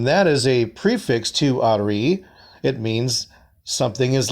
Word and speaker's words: ari: And when you pronounce that, it's Ari.